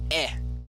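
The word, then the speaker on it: へ: So, we have or C two I now it's written as he but it's pronounced E.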